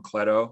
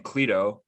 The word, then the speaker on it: Cleto: though because i realized i was mispronouncing your name ron cletto i was saying cledo that's not correct that's all right man